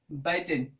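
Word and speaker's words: bitten: है, तो बाइट, beat, बाइटन, ये हमारा वी3 फॉर्म होता है। बाइटन या बीटन भी इसे लोग कहते हैं, बट बाइटन आई थिंक की करेक्ट प्रोनाउंसिएशन होगा, बाइटन।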